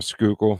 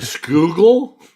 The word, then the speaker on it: Schuylkill: every time he drives, down the Schuylkill into Philly, just The Schuylkill? the Schuylkill.